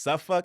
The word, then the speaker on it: Suffolk: And then, yeah, if you know Virginia, Portsmouth, Newport News, it's pronounced Suffolk and Norfolk.